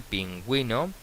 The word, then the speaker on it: pingüino: queremos pronunciar la U, tenemos que colocar lo que se llama diéresis, es decir, dos puntitos encima de la U para pronunciar esa U, como es el caso de cigüeña, como es el caso de pingüino.